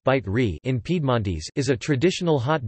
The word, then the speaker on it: Bicerin: Bicerin, pronounced bite re in Piedmontese, is a traditional hot drink native to